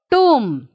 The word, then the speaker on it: tomb: reading w yes here tomb here also we are not pronouncing b why we are doing